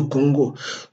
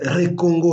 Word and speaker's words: Congo: avoir appris à Kanambe à prononcer Le Congo. Le Congo, pendant qu'il parlait Recongo, Recongo, Joseph moi, Joseph Kabila, plusieurs fois avant de prêter serment, il fallait qu'on répète ça.